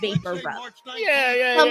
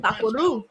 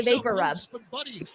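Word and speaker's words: VapoRub: person who speak Spanish trying to pronounce Vapor R my whole life I used to call it bapo vaparu vapo I'd be like oh like go get the vapo okay I'll go get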